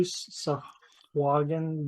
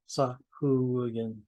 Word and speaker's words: Sahuagin: From I keep trying to do Sahagin, but growing up when I was younger, it was always Sahuagin.